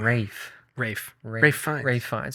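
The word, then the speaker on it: Ralph Fiennes: forget that was him Rafe Rafe ra fines okay yeah I think I said it wrong it's okay uh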